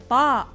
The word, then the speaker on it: طاء: طاء طاء طاء, like the T in a table, yet heavy in pronunciation.